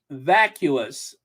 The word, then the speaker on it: vacuous: And it has, what do you say is pronounced vacuous.